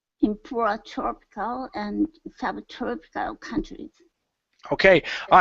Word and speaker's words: tropical: poor tropical and sub tropical countries okay all right give me an a sound instead of tro TR go to an a open your mouth nice and wide in poor tropical